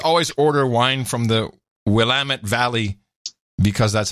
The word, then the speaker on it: Willamette: I just always order wine from the Willamette Valley because that's how you pronounce it.